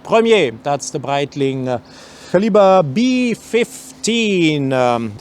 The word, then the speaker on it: Premier: For those who want to know this, you clearly see the word duograph, and it's pronounced in French premier.